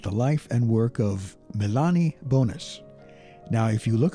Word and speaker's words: Mélanie: life and work of Milani bonus now if you look at her name you might be thinking it's pronounced Melanie but most of the time I've heard it pronounced Milani she was born on